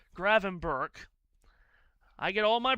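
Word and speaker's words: Gravenberch: guess that I said I always thought it was Gravenber or Grain. I did not know it was Grainber. I did not realize that was how you pronounce his name. I have also gotten a text from Pierre about this. He is saying that it's Graven Burke.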